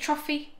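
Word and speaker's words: trofie: This is trophy. Is that how you say it? Trophy?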